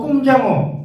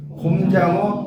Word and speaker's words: 곰장어: 이거 꼼장어, 구이. 여러분 꼼장어 되게 잘 드시잖아요. 꼼장어, 쭈꾸미 많이 쓰죠. 근데 뭐가 답이에요? 곰장어, 주꾸미가 맞아요. 주꾸미.